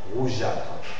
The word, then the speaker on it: rougeâtre: Hein, si on représente la graphie G, représente le son le son G, alors s'il va suivre des E muets, le E muet ne se lit pas. Rougeâtre.